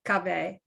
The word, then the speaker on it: Kaveh: Kaveh. Did I pronounce that correctly? Kaveh. Yeah, Kaveh.